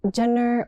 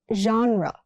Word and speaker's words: genre: Genre, not Jenner or genre. It's genre. That genre is popular.